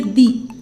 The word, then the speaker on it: the: इसी तरह अगर किसी वर्ड के पहले द आया है और वह वर्ड वोवल से स्टार्ट होता है तो हम बोलेंगे दी, like द aunt, द आउल।